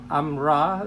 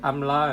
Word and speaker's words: amra: I know some people can't pronounce amra and they pronounce it amla, and that confuses people.